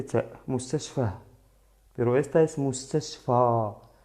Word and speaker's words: مستشفى: pero esta es mustashfa. Es una vocal larga. Mustashfa, ¿vale? Alargamos la pronunciación.